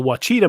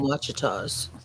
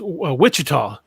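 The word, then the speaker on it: Ouachita: He said that it's pronounced Wichita. I'm like, no, it's not the Wichita Mountains, buddy. No.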